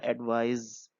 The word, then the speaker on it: advise: यहाँ पे देखिए इसके प्रोनाउंसिएशन में भी फर्क है। जो एडवाइस है, सलाह, गाइडेंस, वो उसको हम बोलेंगे एडवाइस। और जहाँ पे नीचे वाला दिया है वो है एडवाइज, क्योंकि यहाँ पे SE है।